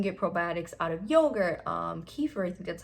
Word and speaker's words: kefir: You can get probiotics in many ways, not just from taking one, but you can get probiotics out of yogurt, kefir, I think that's how you say it, kombucha.